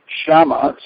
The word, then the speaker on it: Shyama: to pronounce your name spelling has nothing to do with the pronunciation and maybe you give me a little history about the name shama spelled shy a m a am I correct